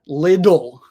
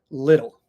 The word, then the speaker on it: little: a little bit so little has what we call the flap or the tap this is when people